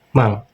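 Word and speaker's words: 万: Jadi empatnya ini dibaca mang.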